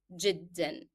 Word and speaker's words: جدا: So حارا is hot and very is جدا. And usually remember to pronounce جدا with the tanween, with the sound of n, because it is a part of the pronunciation of the word.